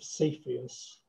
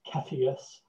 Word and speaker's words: Cepheus: And this is the constellation of Cepheus, or Cepheus, however you want to pronounce it, the king.